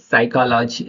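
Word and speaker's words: psychology: एस से पहले आया पी साइलेंट होता है। चलिए इसके एग्जाम्पल भी देख लेते हैं। अभी एस से पहले पी है तो वो कैसे साइलेंट हो गया, यहाँ पे साइकोलॉजी, साइकोलॉजी हो गया, साइकोलॉजी, साइकोलॉजी।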